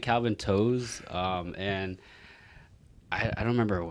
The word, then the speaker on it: To: it's spell t o it's pronounced toe but then like i